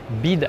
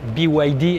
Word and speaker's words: BYD: stand des véhicules chinois bid mais en fait on prononce biwidy évidemment on va on